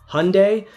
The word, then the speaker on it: Hyundai: And, we'll even maybe have time for Hyundai. I'm being told I'm supposed to pronounce it like Sunday with an H, so Hyundai. Thanks for the help. So Hyundai, Santa Cruz.